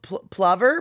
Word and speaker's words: plover: um and pronounce PL Plover Plover Plover Plover um like lover with a p Plover not Plover okay so it's a